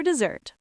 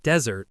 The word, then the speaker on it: dessert: It's not desert like the Sahara. It's dessert with a Z sound.